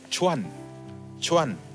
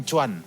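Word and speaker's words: 船: saudara ya Yang pertama-tama ini bacanya cuan-cuan bukan cuman bukan cuman untung cuman ya card acuan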